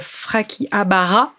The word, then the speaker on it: Frakihabara: Donc, tu es aujourd'hui le fondateur de Frakihabara. C'est ça. Je le prononce bien. C'est très bien prononcé.